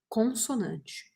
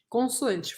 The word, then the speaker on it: consoante: precisa Obrigatoriamente começar com uma consonante consoante falei errado consoante falei em francês